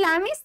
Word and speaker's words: Lami: date इस थम इन लामिस theorem क्या है लेमिस बोलो लामी बोलो इट्स ओके इस तरफ प्रोनाउंस करो